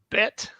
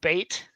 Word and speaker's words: Bet: The next one's called Bet or Bait, if you want.